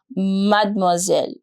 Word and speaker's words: mademoiselle: for that we use mademoiselle. Mademoiselle. Let's understand the pronunciation. Mad, mad, moi, mademois, mademoiselle. Single S will give you the sound of Z.